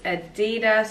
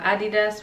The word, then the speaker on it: Adidas: The first item that I have for you guys is this Adidas or Adidas, whatever country you're from, you probably pronounce it differently, but yeah, jersey.